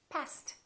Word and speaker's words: passed: Pass is a voiceless consonant. Past tense is passed. Therefore, this word and this word sound exactly the same. Past, past.